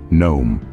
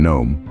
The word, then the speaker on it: gnome: Words like knee, gnome, honest, and psychology can really throw you off. Remember, the K in knee is silent, just like the G in gnome, the H in honest, and the P in psychology.